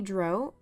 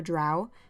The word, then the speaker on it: drow: of the video so Alexandra is a dro or a drow depending on which way you'd like to pronounce it which means she's a